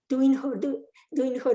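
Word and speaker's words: Düinkhor: Duinhor is a Mongolian pronunciation of Kalachakra, Hutuktu or Gegen.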